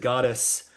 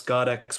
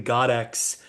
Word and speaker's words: Goddexx: And I I originally said goddess because I didn't know how to pronounce Godex with two X's at the end.